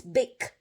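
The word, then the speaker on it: Bich: that's a bad word you might look at this name and you might think oh how am i supposed to pronounce b-i-c-h again it's big okay my parents escaped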